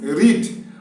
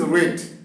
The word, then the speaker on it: read: is r a read so in present form we say I read so the pronunciation is read but the same spelling